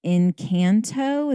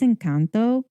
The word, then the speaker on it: Encanto: pronunciation she will create if you say in kanto that kid in two seconds will go it's encanto please like she will not